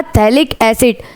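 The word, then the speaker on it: phthalic acid: के आ जाने से ये कहेगा थैलिक एसिड, जिसका स्पेलिंग आपको याद रखना है क्योंकि ये P से स्टार्ट होता है, क्योंकि फिनाइल का ग्रुप तो है।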